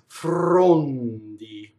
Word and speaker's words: frondi: Okay, so the first word is Frondi. And a couple things about this word. Number one, it has a rolled R.